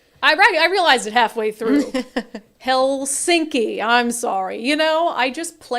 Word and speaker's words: Helsinki: Did anyone correct me on my pronunciation? Yes, they did. Oh, God. I realized it halfway through. Helsinki.